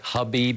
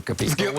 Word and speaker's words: Khabib: me for this but I'm going to pronounce it khabib because I think we're supposed to but whatever it's okay I think we Americanized it to kabib actually I played with